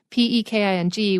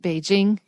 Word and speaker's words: Peking: then people look at P-E-K-I-N-G, which is supposed to be pronounced Beijing, and think it's pronounced Peking, which is why they